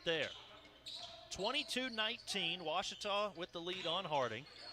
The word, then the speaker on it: Ouachita: ouachita sports digital network i've heard people say oh a cheetah oh wish tall oh a cheetah is it pronounced searching for washi at a baptist university back in texas everybody pronounces it wichita but really it's ouachita washington washington how would